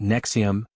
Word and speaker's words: NXIVM: In 2010, he positioned Nexium, pronounced Nexium, evoking the heartburn pill, as a revolutionary executive success program, blending rational inquiry modules with promises of untapped potential.